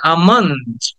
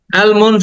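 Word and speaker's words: almond: ফর ইউজ এটাকে আটা কেটে টেনে বলতে হবে আমন্ড অ্যালমন্ড না এটাকে অনেকে অ্যালমন্ড বলে অ্যালমন্ড না এটা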